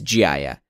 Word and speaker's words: GHIAIA: of a hybrid of this example though is gia first off yes that is how you pronounce it but it's this sort of california